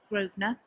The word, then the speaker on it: Grosvenor: Grosvenor? Grosvenor.